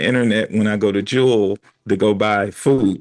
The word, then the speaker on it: Jewel: Notice I said jewel and not jewels because I may lose my Chicago. It's it's jewel. But everybody in Chicago pronounces the grocery store as Jewels.